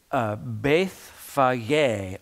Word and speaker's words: Bethphage: Now, I already, it's Bethphage, I believe, is the proper pronunciation of this location.